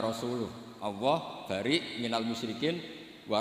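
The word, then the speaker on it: وَرَسُولُهُ: Allah itu terbebas, gak urusan dengan orang musyrik, wa rasulih juga gak ngurus Rasulnya. Kalau sama Rasul saja tidak ngurus, apalagi sama kita. Sama Sayyidina Ali dibenarkan, yang benar bacanya itu wa rasuluh.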